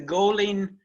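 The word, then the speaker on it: Goilín: for singers there's the goleen and that's not an advertisement for a serial this is how g o i l uh i n is pronounced in in the irish language uh the golden sessions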